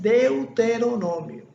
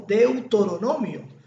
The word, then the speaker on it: Deuteronomio: el libro de deuteronomio el pronunciamiento correcto es deuteronomio se lo digo porque yo era una de las personas que pronunciaba más lo pronunciaba como de autonomía pero la palabra clave